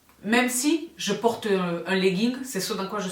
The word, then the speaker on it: legging: Le legging, dit-elle, sans prononcer le G, volontairement, d'accord, le legging, bon, mais avec quelque chose autour de la taille, hein.